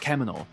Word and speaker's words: 獣: And just to satisfy the basement dwellers out there, the kanji in shū is usually pronounced kemono, while shū is used in compounds.